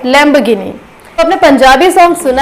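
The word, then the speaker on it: Lamborghini: बट हम घ को एग्जैक्ट घ नहीं प्रोनाउंस करते, इसे हम लैम्बोर्गिनी बोल देते हैं। सो इसका सही प्रोनाउंसिएशन लैम्बोर्गिनी नहीं है, इसका सही प्रोनाउंसिएशन है लैम्बोर्गिनी।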